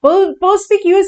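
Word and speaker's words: perspicuous: सुनाई देना चाहिए यस इट इज पर्प क्यूस परस्पिक्यूअस एक एडजेक्टिव है जिसका मतलब होता है एकदम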